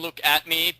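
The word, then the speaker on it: Luke Atmey: I call him Luke at me because that's the pun. Look at me.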